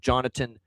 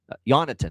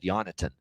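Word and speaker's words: Jonatan: And I like another shot with Jonathan. Yonathan, I should say. The Jay is silent. He corrected everybody with the pronunciation. He made sure this is a request from Baragan that he'd be called Yonathan recently.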